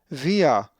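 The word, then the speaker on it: βία: Via with the accent over the iota and the va sound, not the b, but via.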